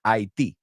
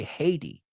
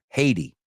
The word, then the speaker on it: Haiti: The first time I heard Haití. So in English, I think it's spelled exactly the same. We say Haiti. Los americanos, la T es más como una D, como bien sabéis. Haiti, right?